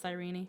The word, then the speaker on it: Cyrene: Okay, so it's pronounced Cyrene.